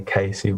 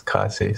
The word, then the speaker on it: Kaesu: Usually people say Kaesu, but it's Kaesu, so yeah.